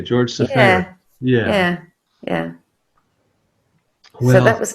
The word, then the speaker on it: Seferis: And I don't know if you want to pronounce this the Greek way or the English way. I've heard it both ways. I would say George Safaris.